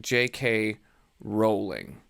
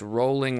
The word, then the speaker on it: Rowling: author's name is pronounced JK Rowling I saw a interview with her and she had said it's rolling like bowling it's spelled like bowling